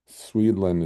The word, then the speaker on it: Swedland: Swedland is spelled like Sweden, but Land.